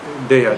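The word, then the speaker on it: deyya: What is Thaya? T-H-A-Y-A? Teya. Teya. Thaya, D-E-Y-Y-A. Deya. Deya means that which is to be given. Yeah. Become Thai. Yeah, they pronounce in Thailand. They pronounce Thai, Thaya or Thai.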